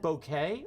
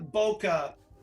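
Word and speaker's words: bokeh: pronounce and i know you know how to pronounce it b-o-k-e-h is it bouquet or boca ah boca she had it yeah for once terry had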